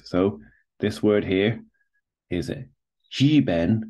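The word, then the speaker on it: 日本: So this word here is jiben, as it's pronounced in Chinese, is Japan.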